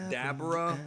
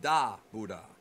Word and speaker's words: Dabura: It's not Dabura. You don't enunciate the boo. It's Dabuda.